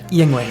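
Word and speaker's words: Yuengling: is a Philadelphia and I can't watch the name be butchered Yingling I'm drinking the Yingling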